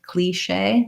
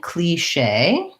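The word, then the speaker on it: cliché: regional pronunciations as well so they're saying cliche cliche um with the long tense e that's a cliche um so i'll look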